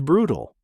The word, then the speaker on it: brutal: Pronunciation brutal. Two syllables. Stress on the first. The second syllable often reduces to a quick unstressed tool sound.